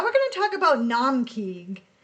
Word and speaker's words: Naumkeag: Now we're going to talk about Naumkeag, which is spelled n a u m k e a g.